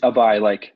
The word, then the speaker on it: Abhay: So, if you want to talk to, am I correct pronouncing correctly, Abhay or Abhay? It's Abai, Abai. like Okay. Abai. Yep, Abai.